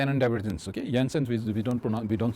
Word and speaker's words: Jensen: yansen s diverence okay yansen we don't pron we don't say Jensen we call it yansen because a Dennis guy so the J is pronounced as y so yens diverence or